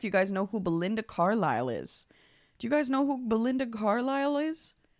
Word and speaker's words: Carlisle: And now I know how to pronounce Carlisle because last time I accidentally pronounced it Carlisle, because I am that cool.